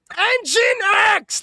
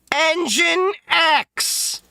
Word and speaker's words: nginx: and put in the IP of NGINX RIGHT ENGINE X.